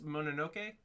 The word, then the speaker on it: Mononoke: And then next week, Princess Mononoke. That's how it's pronounced.